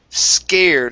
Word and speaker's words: scared: Next up, we have the word scared instead of scarred. Okay, it's an A-ear sound. Scared.